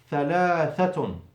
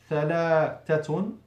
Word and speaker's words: ثلاثة: And ثلاثة is بإخراج, with taking out, بإخراج اللسان, with taking out the tongue, مرتين, twice. So you feel the tongue twice outside the mouth. ثلاثة.